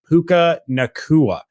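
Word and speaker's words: Puka Nacua: taken at 179 was puka nakua uh it is it is actually pronounced the way that it is basically spelled there um but yeah overall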